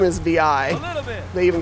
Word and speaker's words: Vi: closest right now are v or vi i don't know how to pronounce her name it's vi so they're following her